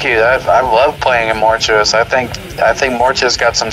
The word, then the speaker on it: Mortuous: I'm not sure how to pronounce this, but Mortuous? Yeah, you got it. Yeah, it's Mortuous.